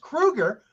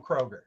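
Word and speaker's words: Kroeger: much about Chad Kroger he knows that it's pronounced Krueger but still goes on to call him Kroger because we learned that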